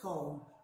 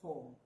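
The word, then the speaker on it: kon: monsieur for snow is comb it looks like k.o but it's pronounced comb it's in that book but k-o-n you can write that down it has an o like the sound of old and actually here we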